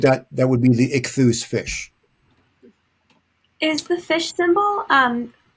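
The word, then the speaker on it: Ichthys: In English, ichthus.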